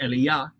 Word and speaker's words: Elijah: by the name of Elijah or if you want to say it correctly as le yah but Elijah does some